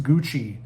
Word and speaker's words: Gucci: Why is it pronounced Gucci? Because the ci makes the chi sound, you know, stuff like that.